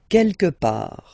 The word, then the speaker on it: quelque part: Quelque part. Don't pronounce the final T.